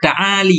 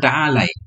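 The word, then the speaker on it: تعالي: Dia bacanya taali bukan taalai ya.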